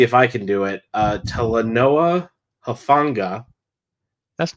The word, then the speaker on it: Talanoa Hufanga: Talanoa Hufanga. That's not bad. Yeah, I think I did it. Talanoa Hufanga, just like Yeah.